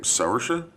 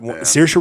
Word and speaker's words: Saoirse: Saoirse Saoirse Ronan.